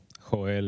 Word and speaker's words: Joel: Joel is Joel with the Spanish pronunciation.